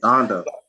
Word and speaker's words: Donda: Donda. Donda.